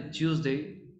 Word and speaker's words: Tuesday: Tuesday, ¿sí? Con la lengua hacia adelante, Tuesday, ¿ok?